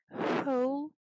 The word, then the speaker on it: whole: Whole avocado, целый авокадо, и буква W здесь не читается.